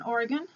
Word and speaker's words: Oregon: I'm out here in Oregon, and by the way, I learned very quickly